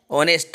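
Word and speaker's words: honest: ऑनेस्ट, ऑनेस्ट देखो भाई जरा, ऑनेस्ट को लिख के देखो, ऑनेस्ट किसका साउंड है, आ का, हा का साउंड नहीं है, एच साइलेंट है यहाँ पे, है ना,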